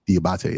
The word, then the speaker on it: Diabate: Is that how you pronounce his last name? Diabate, yes.